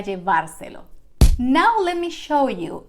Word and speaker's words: llevárselo: And don't forget the accent mark in the last syllable of the infinitive form of the verb. Voy a llevárselo.